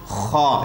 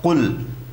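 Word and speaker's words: قل: It is not kha, it is not khul, it is qaf, qul, qaf, qul, right?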